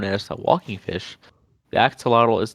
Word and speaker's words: axolotl: How do you pronounce the name? Is it axolotl? I'm pretty sure it's axolotl. Yeah. What a strange name. Hmm. This is not as big of an area as I thought it was. Let me Uh, look it up. Axolotl. Axolotl. Pronunciation. It is. Axolotl.